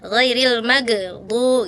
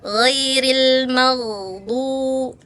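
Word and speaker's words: غَيْرِ الْمَغْضُوبِ: Ghairil mag tadi kakak gitu ya. Mantul tawalud ghairil magdu gitu harusnya alirin kak ya rakwa ghairil magdu.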